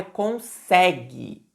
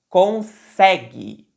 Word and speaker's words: consegue: a letra A é consegue consegue a sílaba tônica é o c a parte mais forte da palavra quando a gente vai falar é a é a sílaba do Meio consegue que que é